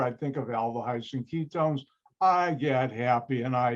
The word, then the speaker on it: ketone: the high ketone remember ketone is not spelled with a y even though it's pronounced that way all right nomenclature aldi